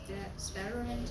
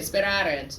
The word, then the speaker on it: sperarent: Sparent, or how do you say that? Very good. Sperarent, yes. So wellent is an imperfect subjunctive, and sperarent is an imperfect subjunctive.